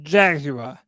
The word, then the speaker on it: Jaguar: Tony, did you say it like Jaguar? You said What? Jaguar. Jaguar. You put too much emphasis on the U.